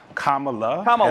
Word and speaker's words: Kamala: I say Kamala Harris. I'm honestly telling you, I wouldn't disrespect someone by pronouncing their name wrong. You say it. Kamala. L-A.